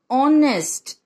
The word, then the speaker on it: honest: Honest. इसे हम क्या प्रोनाउंस करते हैं?